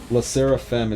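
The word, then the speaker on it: LE SSERAFIM: La Seraphim is how it's pronounced, but it's spelled in some crazy way.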